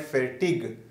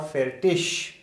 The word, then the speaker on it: fertig: For example, so here this IG at the end can be pronounced as sh, but you will notice that few people they call it fertig, fertig or fertish, both are correct.